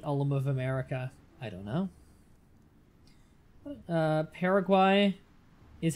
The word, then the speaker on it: Paraguay: would be the ultimate America I don't know Paraguay is how you pronounce it really okay I will I will